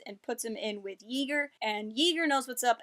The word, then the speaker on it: Yeager: Wars name ever, because I keep wanting to call him Jaeger, and I'm pretty sure everyone's going to want to keep calling him Jaeger, but Yeager, it's like eager, only ye old eagerness.